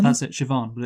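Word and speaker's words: Siobhan: is the sister called sioban that's it sioban but it's but it's spelled really Wordly sorry yes yeah I think like uh I know in Russian be are pronounced V's so so sioban rejects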